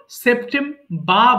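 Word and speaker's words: September: আমরা আর সাউন্ডটা শিখি, দুই ধরনের উচ্চারণ আছে, ব্রিটিশ আর একটা আমেরিকান। ব্রিটিশ উচ্চারণ যারা করি আমরা, তখন আর এর সাউন্ডের দরকার হয় না, তখন তুমি বলতে পারো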